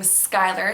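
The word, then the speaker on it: Schuyler: This is just a variant of the Dutch name Skylar, spelled S-C-H-U-Y-L-E-R, which means scholar, so very good meaning. There is a popular singer named Skylar Grey and a WNBA player named Skylar Diggins.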